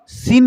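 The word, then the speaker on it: scene: एस सी एस ई ई एन ई मतलब सीन लिखा हुआ है। इसमें सी साइलेंट है और एस का यूज़ हुआ है।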